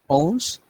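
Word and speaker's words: onze: 2 to 10 and 11 is pronounced as owns okay from 11 to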